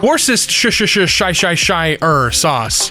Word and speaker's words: Worcestershire sauce: Worcestershire sauce. It's pronounced Worcestershire sauce.